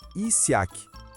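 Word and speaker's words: Ysyakh: Pronuncia-se Isaiac, que significa abundância na língua local.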